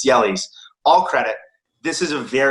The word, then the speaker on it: Jelle: I give all credit he's pronounced jelly's if we're being sticking to now it's actually pronounced natively it's jelly's all credit this is